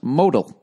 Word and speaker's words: modal: please include the following I'm going to it's pronounced modal every pair of meundies is made from SU